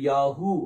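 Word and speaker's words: יָהוּ: உச்சரிப்பு உங்களுக்கு கொடுக்கிறேன் மத்தபடி நீங்க ஷார்ட்டா என்ன செய்யலாம் யா அப்படின்னு சொல்லி உச்சரிக்கலாம் அல்லது யாகு அப்படின்னு உச்சரிக்கலாம் ஏன்னா யா யாகு இந்த ரெண்டு உச்சரிப்பு வந்து அது உலக அளவுல எல்லாமே தெரிஞ்ச ஒரு உச்சரிப்பு ஓகே அடுத்தது மூணாவது லைன்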